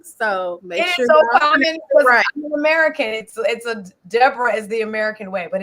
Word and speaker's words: Deborah: me the hebrew actually the jewish like hebrew pronunciation is deborah so he's like you will be deborah naomi bente zebulun okay so everybody is deborah not deborah i pronounced